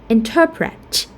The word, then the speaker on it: interpret: Or interpret. So we have tense vowel here.